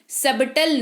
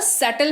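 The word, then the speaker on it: subtle: से नल बीती ए सबटल नहीं छोड़ेंगे इसको पढ़ कि क्या पढ़ते हैं न क्योंकि यहां पर भी के पहले क्या है यहां पर बी के टीके पहले क्या है यहां पर बीती के पहले बीच है तो इसको सेटल पड़ते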